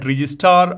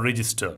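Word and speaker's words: Regiestar: This module is called Register and it's spelled R-E-G-I-E-S-T-A-R. You can call it Registar or Register.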